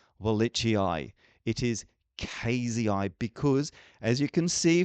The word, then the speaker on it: cayeuxii: is Dombeya cross cayeuxii, and sometimes I have been saying Dombeya cayu because I was told that's how to pronounce it, and I've now been corrected, and I hope now the correct way to say this is Dombeya cross cayeuxii.